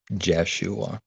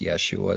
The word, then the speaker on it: Yeshua: so that's yeshua and it's going to be in the king james for example as jeshua but pronounced yeshua so but this is